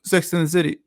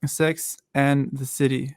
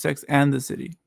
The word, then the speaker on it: Sex and the City: No, it's Sex and the City.